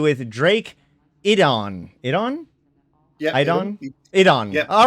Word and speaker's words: Iddon: Yeah, Iddon? Iddon. Yeah. All right, so awesome. many people pronounce that incorrectly.